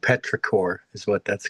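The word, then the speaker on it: petrichor: It's actually called Petraore is what that's called. I'm looking it up. Yeah, it's a my new word for the day. Petraore.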